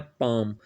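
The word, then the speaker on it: palm: He puts the ring on हिज पाम, L silent है, पाम।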